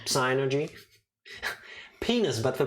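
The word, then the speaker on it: Psynergy: i use synergy so psy energy no like no it's synergy people keep arguing about this uh evie for example says that the p is silent so it's like synergy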